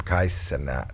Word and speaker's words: Kai Cenat: Kai Cenat. How do you say his name? Kai Cenat.